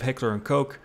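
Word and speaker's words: Heckler & Koch: you're a fan of Heckler and kooch and yes I say kooch because that is the English pronunciation so I don't want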